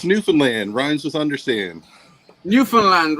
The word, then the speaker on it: Newfoundland: newfoundland ryan's just understand newfoundland rhymes with understand that's what i do